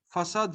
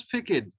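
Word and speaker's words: façade: Okay, but if we put this comma, this SEDI under C, this ka will become sa. Okay, like the word in English facade. Remember the word facade. F A C SEDI ADE. Facade means the front portion of a building. So it we do not pronounce it as facade. Okay, it is facade because this C behaves like saw, behaves like S.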